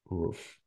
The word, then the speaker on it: rough: quand t'as le GH à la fin, tu te prononces F. F, ouais, ouais. Wow. Tu vois. Rough.